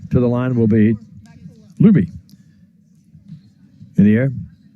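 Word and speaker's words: Luebbe: the line will be Luby in the air you get the pronunciation guide from Sheldon the gang and it's l u then be e but it's actually spelled l u e BB be can I get another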